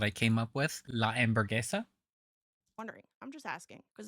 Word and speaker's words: Hamburguesa: I'm just I liked the one that I came up with, La Hamburguesa, wondering. I'm just asking. Because apparently, because that's how you would pronounce it in Spanish. Hamburguesa.